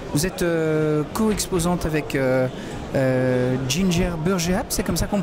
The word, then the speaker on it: Ginger Burgeap: sur word efficiency vous êtes co exposantes avec ginger burgeap c'est comme ça qu'on prononce oui c'est comme ça qu'on prononce oui